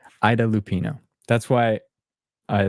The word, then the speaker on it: Ida Lupino: kind of a remastered thing Nell says it's pronounced Ida Lupino thank you not AA as I said Ida Lupino that's why I like your comments thank you